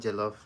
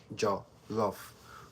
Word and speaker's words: Jollof: Jollof is spelled as um j o double l o f. Okay. Jollof. Jo lof. Jo lof. Jo lof. That is um that is the um the vowel sound Jollof.